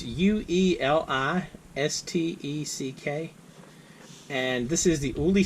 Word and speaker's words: Ueli Steck: This is the Wenger Titanium Ueli Steck, and I'm pretty sure I mispronounced his name. It's Ueli Steck, and this is the Ueli Steck Titanium Swiss Army knife.